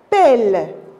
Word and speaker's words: pelle: Alors maintenant, l'autre son, ou bien l'autre syllabe, la pelle. Elle, la pelle. Pourquoi on a prononcé le E? Et parce qu'il y a double L, E.